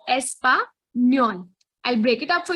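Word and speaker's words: español: language so yeah um spanish in spanish is called espanyol n with a wave is an extra alphabet that you'll find in spanish language so it is espa nyon i'll break it up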